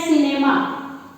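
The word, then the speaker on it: cinema: ठीक है, जैसे शब्द है सिनेमा, सिनेमा में सी का साउंड, सी की ध्वनि उच्चरित हो रही है।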